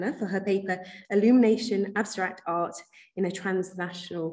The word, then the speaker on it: Illumination: So I'm going to start from what I mean there by illumination, and you will notice the French pronunciation.